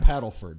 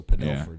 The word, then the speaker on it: Padelford: Not Paddleford. So, Padelford is the official pronunciation.